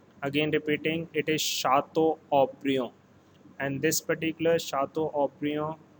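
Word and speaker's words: Château Haut-Brion: france it is called shato obrio here t word is silent a u is pronounced as o again repeating it is shatto oprio and this particular shato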